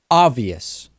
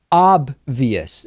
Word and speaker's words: obvious: is sometimes i say obvious and of course the correct pronunciation is obvious there is a b followed by a v which i'm kind of